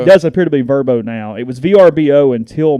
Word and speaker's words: VRBO: It does appear to be Verbo now.